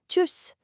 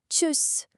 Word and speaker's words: Tschüss: It almost sounds a bit like a sneeze, doesn't it? Tschüss. Tschüss.